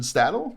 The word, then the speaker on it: Stadil: it is and my guest here is Sebastian stadle do I pronounce that right though yeah cool um and